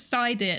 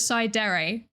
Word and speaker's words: Psydere: Wait, no, it's not pronounced like cider.